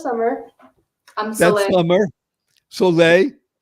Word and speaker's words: Soleil: How do you spell your name, Soleil? S-O-L-E-I-L. The sun. Wait a minute. How else you going to spell Soleil? You think I would spell it? By the way, that was for you, Yasmin, because Yasmin's in Paris right now. So somebody might spell it Solay, but no, Soleil, right?